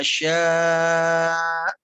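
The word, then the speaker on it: شاء: Min ilmihi, jangan min'i, tapi min ilmihi illa bima syaa. Min ilmihi illa bima syaa. Nah, sya-nya di sana ada hamzah ya, maka cara membacanya adalah dihentak. Sya gitu ya. Syaa. Oke, tapi agak panjang ya.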